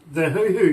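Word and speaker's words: huhu: But believe me, you got to wonder about the hoo-hoo grub. It is spelled H-U-H-U.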